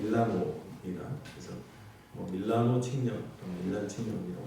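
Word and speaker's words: Milano: 의사를 알고 있는 313년에 밀란 칙령이라고 밀란이란 발음은 영어식 발음이고요 원래 그 본토 발음은 밀라노 그래서 밀라노 칙령 밀라노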